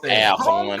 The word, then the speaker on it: Alcorn: in a driving seat, particularly with TSU upsetting Alcorn State Alcorn State for Alcorn. Yeah, please say that right. Please say that right. Alcorn.